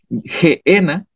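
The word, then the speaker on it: Γέεννα: de gehena en griego en griego se pronuncia gena y en hebreo gay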